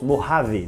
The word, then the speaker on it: Mojave: beau j'avais un en français mais ça se prononce mojave donc c'est mort avait et meaux avait plutôt